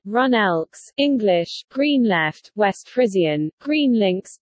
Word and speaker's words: GroenLinks: Groenlinks, Dutch pronunciation, Runelks, English, GreenLeft, West Frisian, GreenLinks, GL, is a green political party in the Netherlands.